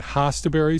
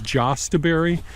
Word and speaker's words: Jostaberry: Jostaberries pronounced, and they're spelled Jostaberry is the name of the berries, and these are I pronounce it Jostaberry. Some people pronounce them as Jostaberry or Jostaberry.